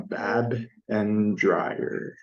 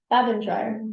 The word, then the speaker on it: Babendreier: what's up with that how do you say your last name oh I meant to go over that with you um I was gonna spell it out like in the email um bab and dryer bab and dryer that's